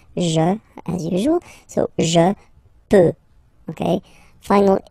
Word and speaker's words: peux: Okay, P-E-U-X. Okay, you don't pronounce the final X.